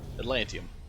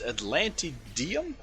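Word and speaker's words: Atlantideum: We are bribing the space station corps with some Atlantium. At Atlant Atlantid. I keep saying that wrong. It's Atlantidium.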